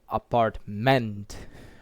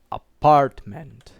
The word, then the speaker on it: apartment: For example, in the word apartment, we do not say apartment, we say apartment, right?